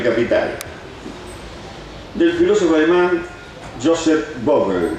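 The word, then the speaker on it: Vogl: Lleva el sugerente título de El espectro del capital, del filósofo alemán Joseph Vogel, no sé cómo se pronuncia, B-O-G-L, Vogel. Vogel. Vogel, no tiene ella, claro, pero no importa, Vogel, qué sé yo.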